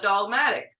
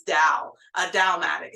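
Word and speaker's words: dalmatic: wearing is called a dogmatic. Uh now I I I know I don't say that word accurately. Uh so it's spelled D A L. I know you hear me saying dog. It's da datic.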